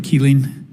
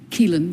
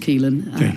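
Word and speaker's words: Caoilfhionn: And am I going to pronounce it right, Keelen? Keelin. Yes. Uh it's got rather a lot of letters. Yes. But it's just pronounced Keelin.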